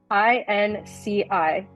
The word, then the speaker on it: INCI: Is it literally INCI, I-N-K-Y, INCI names? INCI, and I don't have the acronym in front of me, but it's essentially, I want to say, international nomenclature.